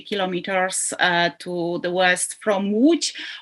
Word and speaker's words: Łódź: I am genealogist, actually, living in Zduńska Wola, which is located 50 kilometers to the west from Łódź, or Lodz, some people pronunciate.